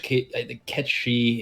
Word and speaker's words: Cait Sith: It's spelled Cait Sith in English, Ket she in Gaelic, whatever the initial pronunciation is, and Gaelic.